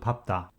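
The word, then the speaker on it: 밟다: only case can be found in the verb papta which means stamp on or step on with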